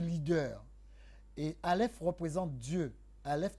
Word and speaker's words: Aleph: Aleph n'est pas quelque chose de prononçable, il se prononce A, comme le souffle qui a été injecté en vous.